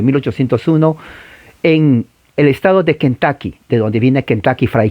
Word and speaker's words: Kentucky: Claro, usted lo ve en español y va a decir Kentucky, pero no es U, en realidad es A, Kentucky, es una A gutural, no es A, es A, Kentucky.